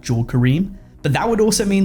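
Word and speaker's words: Jawed Karim: I think his name is actually pronounced Javeed Kareem and not Jaw Kareem.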